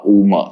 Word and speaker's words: Om: it is now remember om as a word needs to have three syllables uh uma so if you chanted